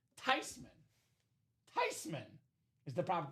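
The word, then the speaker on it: Theismann: It's pronounced Tyman." Tyman is the proper pronunciation. I told that story at my Christmas last year. My dad said, "Of course it's Tyman. That's a German name.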